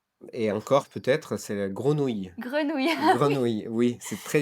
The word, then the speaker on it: grenouille: très dur de prononcer grenouille il y a écureuil truite aussi qui est tr c'est le R qui est très dur à prononcer pour les anglophones parfois c'est complètement oui